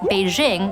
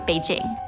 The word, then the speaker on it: Beijing: capital of China pronounced Beijing with a sound instead of with a J sound that is both written in English and pronounced in Mandarin. I used to say, but now it's always Beijing.